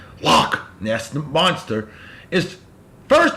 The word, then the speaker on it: Loch: day in 1933 and I gotta say it properly the lock lock that's the monster is